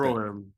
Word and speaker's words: Rohirrim: Lord of the Rings, War of how do you pronounce that? Rohirrim. Okay. Rohirrim.